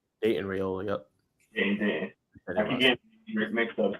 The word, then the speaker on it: Dayton: Dayton Raiola. Yep. Dayton.